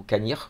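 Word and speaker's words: Cannich: Dromnandrochit, ensuite aller au village de Canich ou Canir comme on le prononce, n'importe, avant de partir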